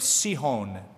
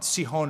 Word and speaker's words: Sihon: Then Israel sent messengers to this character by the name of Sihon or Sihon. Sihon is the right pronunciation.